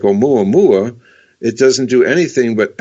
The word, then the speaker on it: Oumuamua: It's Oumuamua. It's Hawaiian, so you can just kind of think Oumuamua.